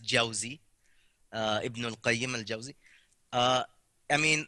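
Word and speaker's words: Jawzi: touch on you mean you quoted even josie first of all it's pronounced jauzy uh i mean like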